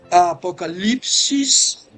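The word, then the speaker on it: ἀποκάλυψις: Então, sobre a palavra Apocalipse, em grego, Apocalipsis, porque o U em grego tem que ser pronunciado como I, como um Y, né? Apocalipsis é a pronúncia em grego.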